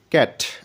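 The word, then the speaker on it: cat: হবে সি এ টি, ক্যাট। অর্থাৎ এই ক্ষেত্রে কিন্তু সি এর পরে অয় ই আই নেই, যার কারণে সি এর উচ্চারণটা কিন্তু এখানে ক হয়ে গেছে।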